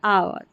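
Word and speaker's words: hour: यानी एच ओ यू आर आवर।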